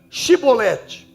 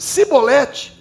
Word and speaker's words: Shibolete: Se respondesse que não, diziam: então diga Shibolete. Se dissesse Sibolete, por não conseguir pronunciar corretamente a palavra, agarravam-no e matavam-no nos locais de passagem do Jordão.